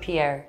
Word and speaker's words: Pierre: Like from the back of your throat, like Pierre.